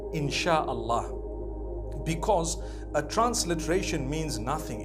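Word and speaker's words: Insya Allah: If you look at, the Malay language, they write INSHAALLAH, the S-Y-A. They pronounce the S-Y the way we pronounce S-H. So they can write it how they want, for as long as when people read it, they read it INSHAALLAH.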